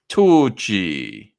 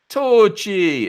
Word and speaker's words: Tucci: Tucci. Like that. That's how you say it. Tucci.